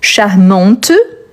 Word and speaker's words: charmante: Charmante, donc oui, on prononce bien le T à la fin.